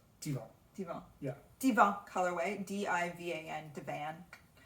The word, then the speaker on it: Divan: So this is our Pure Wash DK in the Divan. How do you say that colorway name? Divan. Divan.